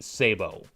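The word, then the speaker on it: sabot: Although again, the military way, if you want to go strictly military way, would be Sabo, because again, as I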